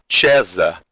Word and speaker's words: Caesar: Vem do latim do termo Caesar, ou em latim, a pronúncia correta em latim, César.